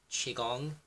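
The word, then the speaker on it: Qigong: Qi-Gong, it's actually pronounced Qi-Gong, right?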